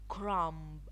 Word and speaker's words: crumb: B is not pronounced when following M at the end of a word. Climb, crumb, lamb, thumb. It's not very clearly pronounced. The B, it should be silent. Climb, crumb, lamb, thumb. You should be quiet at the end of the word. You should not pronounce the B.